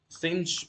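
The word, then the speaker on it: sinh: So cinch we can pronunciate it as cinch of x = e to the x - e to the minus x / 2.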